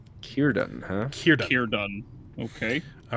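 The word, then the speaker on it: Círdan: It's pronounced Kirdun. Kierdan, huh?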